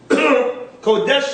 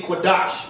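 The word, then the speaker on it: Qadash: Right here, where it says, had bearing these words, Kodash La Yahweh, or Kodesh in the modern Li Yehovah. Now, Kodesh is supposed to be Kodash in the ancient.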